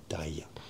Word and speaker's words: Daiya: Three syllables. Da-i-a. Daiya. And they've got a dead cow outside on which you can sit and take your selfies.